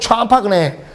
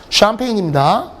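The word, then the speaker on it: champagne: 어떤 놈은 샴파그네, 샴페인입니다.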